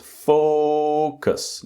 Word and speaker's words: focus: It's very very important with the pronunciation that the first syllable is focus. Not focus. Focus, but it's focus. The strong syllable is the first syllable.